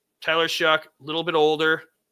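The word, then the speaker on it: Shough: That's how how it's spelled. I know it's show, but it's it's Shuck.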